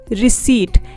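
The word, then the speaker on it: receipt: रिसीट, इसमें P silent रहेगा तो इसे हम बोलेंगे रिसीट।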